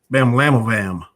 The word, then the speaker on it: bamlanivimab: It's called neutralizing antibody, and the word I'm trying to pronounce is bamlanivimab.